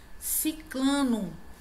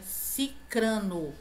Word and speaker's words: cicrano: Ciclano, nem fulano, nem cicrano. A pronúncia é cicrano.